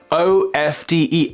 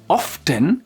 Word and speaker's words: often: So you can say either often with the t or often.